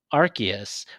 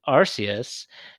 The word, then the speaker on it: Arceus: uh, was the Pokemon Arceus, which I've always been pronouncing it Arceus, and apparently it is Arceus, which is the Pokemon god.